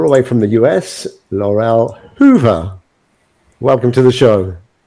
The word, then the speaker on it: Laurel Hoover: It's Laurel Hoover. Right. Okay. You got to roll your Rs.